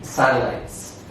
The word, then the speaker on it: satellites: In question 6, the different pronunciation is letter B, satellites. Because in this question, ES makes the sound S. But in A, C, and D, ES and S make the sound Z.